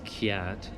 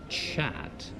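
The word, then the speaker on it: kyat: spelled KY a T which I would pronounce cat but I read online that they pronounce it chat well there it is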